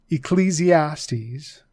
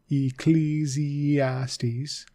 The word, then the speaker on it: Ecclesiastes: Ecclesiastes. The E is long there. And so the I is also E sound, right? Ecclesiastes Ecclesiastes and Song of Songs